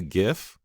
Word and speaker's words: GIF: clear it out there you can pronounce it either way is what I've learned I just looked at this video to check it out so it could be GIF or GIF so however you want